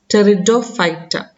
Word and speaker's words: Pteridophyta: P is silent there. We will pronounce it as pteridophyta.